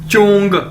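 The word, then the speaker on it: 中: ये देखें, next word है हमारे पास ZHONG, चोंग, चोंग, चोंग। कैसे बोलेंगे इसे, जैसे चोंग, चोंग, ZH यानी चे। चाइनीज में ZH को चे के तौर पर प्रोनाउंस करते हैं, यानी चोंग, चोंग।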